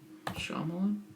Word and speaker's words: Shyamalan: How do you pronounce his name? M. Night Shyamalan? It's Shyamalan.